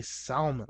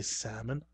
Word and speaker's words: salmon: I see that L in there and I pronounce it. Every time I'm dealing with the fish, I say salmon. I never say salmon. I say salmon.